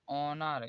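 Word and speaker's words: honour: ओ से ओ पहले आया, यदि एच से पहले ओ से पहले एच आएगा तो एच हमेशा साइलेंट होता है। देखिए ऑनर, यहाँ पर ओ से पहले एच आया है इसलिए यहाँ पर एच साइलेंट होगा। ऑनर, इसे यहाँ पर भी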